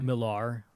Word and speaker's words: Millar: world right from yep a lot of you pronounce on Mark Millar Millar there's an a at the end yeah which there's a